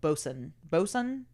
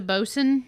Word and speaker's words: boatswain: What's a bosun? Yeah, look up. It's spelled like boatswain.